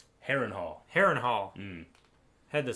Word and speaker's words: Harrenhal: Harrenhal? Harrenhal. Harrenhal. Had the syllables kind of rhyming, but you got it there.